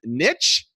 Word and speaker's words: niche: is figure that out because rich does not rhyme with niche pitch rich you've got